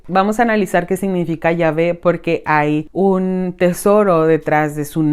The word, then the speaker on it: Yahvé: Este tetragramatón se llama a las 4 letras ya unidas y en su pronunciación es Yahvé, aunque muchas personas también